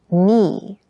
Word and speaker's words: knee: Keep in mind, yes, this word begins with a K in spelling, but the pronunciation is knee.